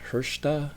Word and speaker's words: Hrsta: And then we have to go back to Montreal for a band called, I'll show you the inch, it's spelled HRSTA and it's pronounced Hershta, another post-rock band out of Montreal.